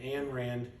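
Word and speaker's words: Ayn Rand: to a book called Atlas Shrugged by uh I am Rand or people pronounce her name Ann Rand um and uh I highly recommend it to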